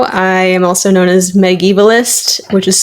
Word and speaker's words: Megievalist: I am also known as Megievalist, which is spelled Megievalist. It's a made-up word. It's Megan and medievalist because I study medieval literature, specifically English literature.